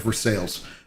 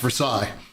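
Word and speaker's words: Versailles: and then uh because it's Kentucky we have ver sales uh anywhere else in World anywhere else in the world is pronounced Versa but Kentucky yes but Kentuck now I'm repping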